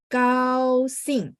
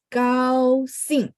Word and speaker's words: 高兴: 再来17, 17 高兴 ya. G baca K, tidak ada angin. Jadi saya selalu bilang bersih ya. 高兴, singnya nada 4.